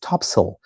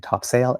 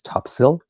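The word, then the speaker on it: Topsail: big road in the middle called Topsale Road pronounced topsil. So there we go. Gentle correction on myself. I've been saying top sail and it's topsil.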